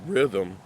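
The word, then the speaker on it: riddim: It's technically pronounced rhythm, but the island folks call it rhythm, R-I-D-D-I-M.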